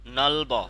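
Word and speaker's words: 넓어: এখানে নলব নলব নলব কেন নলব হবে কারণ এই যে ইয়ং আসার কারণে এটা উপরে চলে যাবে জি স্যার বুঝতে পারছেন এখানে উচ্চারণ হয় এখানে ব উচ্চারণ হবে নলব নলব এখানে ব উচ্চারণ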